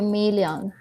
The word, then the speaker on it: million: Se dice million. Se escribe millón, pero se lee million, como si la doble L sonara como una L.